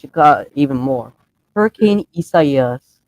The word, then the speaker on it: Isaias: Hurricane Isaias. That's actually how it's pronounced.